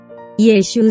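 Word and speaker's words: Yeshu: execution took place aaled He is Yesu sebenarnya Bagaimana Yesus diucapkan dalam bahasa Ibrani akan tetapi Yesus yang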